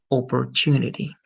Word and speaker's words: opportunity: Let's try to pronounce these consonants, Evelyn, a little bit more like the English way, like T, and it's going to be more like opportunity, okay?